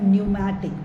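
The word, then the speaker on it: pneumatic: bonus है ना देर न्यूमेटिक piece silent है न्यूमेटिक मतलब फील्ड विद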